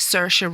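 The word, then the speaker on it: Saoirse: remember that one with sersa Ronan I always have to say her name like I'm in IR sersa Ronin which is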